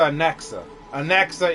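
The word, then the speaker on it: Anaxa: Titan Thanos ah Professor an anexa is how you say his name got it if you're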